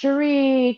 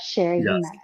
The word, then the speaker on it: Cherie: we've had about okay my name has been pronounced Sheree Sherry but Sherry we went through all